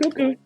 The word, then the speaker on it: Cuco: Today we are smoking a Blackbird Cuco, if I'm pronouncing that correct. That right? Correct? Cuckoo, cuckoo.